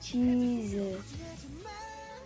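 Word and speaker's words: 치즈: Le troisième mot va lui se prononcer non pas comme en français, comme le mot pain, mais plutôt comme le mot en anglais. Ça va être le mot fromage qui va se prononcer cheese avec un ch, i, un j et un e.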